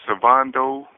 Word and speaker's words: Svondo: Uh my full name is Savando. That's spelled S V O N D O W A T S O N.